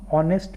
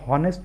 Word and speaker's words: honest: से आर्टिकल लगा देंगे, लेकिन अगर आप इसको हॉनेस्ट पढ़ते हैं तो हॉनेस्ट पढ़ेंगे तो ह आएगा, जबकि ये हॉनेस्ट इसका उच्चारण नहीं होता है। इसका सही उच्चारण है ऑनेस्ट।